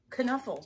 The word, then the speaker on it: Knuffle: Knuffle is what Trixie says, so I guess that's the right answer, but I always say Nuffle.